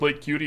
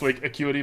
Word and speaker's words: Lake Acuity: This used to play with Lake Cutie instead. For those of you at home, I do know it's pronounced Lake Acuity, but Lake Cutie sounds so much more fun.